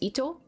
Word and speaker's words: Itto: It's It's just Itto. Uh, I had a feeling I was saying his name wrong.